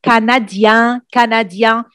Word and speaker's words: canadien: If I want to say je suis canadien, that means finish with I-E-N, I don't pronounce the N, je suis canadien, but if I'm talking